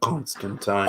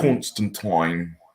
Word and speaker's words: Constantine: Constantine so how it's Alan Morrison pronounces it Constantine constant twine strong coincidence and I